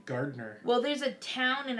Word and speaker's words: Gardner: I get Garnier. I'm not kidding. I've been called Garnier before. What, someone we know, their kid calls you Granite.